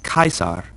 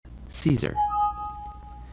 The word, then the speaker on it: Caesar: sound like a c so this name is pronounced kaisar not Caesar the same goes for the G it's always